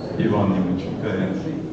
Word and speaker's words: Ivan: you yeah my name is my name is Yvonne it is sexually enjoying to pronounce it like this and not like I've